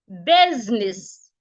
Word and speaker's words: business: can have other words like busy business B the S here sounds dead the I is silent but of course the U here and the E here both sounds are articulated as a business women not